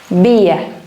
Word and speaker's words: vía: último de Last One el último es via a con acento en la i vía bien a ante bajo